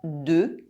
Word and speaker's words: deux: deux two It ends with a silent X. However, if I use it in this phrase. There is a liaison between “deux” and “ans”.